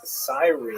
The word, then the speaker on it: Cyrene: I've looked it up and I've heard it pronounced as Cyrene in English. In Greek, it would have been something like Kurene. So I'm probably going to say Kurene, and I'll probably be